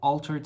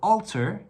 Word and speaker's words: alter: So alter and Walter, very similar in pronunciation. I guess you didn't know whether it was like an or a, alter, you know, so just remember Walter and you will remember alter.